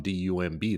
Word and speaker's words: dumb: people pronounce, that's how words come to a pronunciation, right? If you look at the word dumb, D-U-M-B, that would be dumbo, but we say dumb, right?